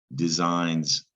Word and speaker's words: design: an interesting word too because of this g there's a g before the n which is easily confused with the sing sign and sing so design actually